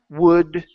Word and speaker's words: would: would should in those in those words the L is silent okay so let's try that could would should okay hey try